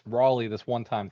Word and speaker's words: Raleigh: Having been born in Raleigh, it's pronounced Raleigh, not Rally.